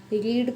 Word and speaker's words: read: ही पढ़ते हैं हम, ये वाला जो रीड है इसको हम रीड नहीं पढ़ते, इसको हम रैड पढ़ते हैं, रैड, RED। वो जो आप RED पढ़ते हैं ना, RED, रैड, ये वो वाला रैड है, इसका प्रोनाउंसिएशन रैड होता है।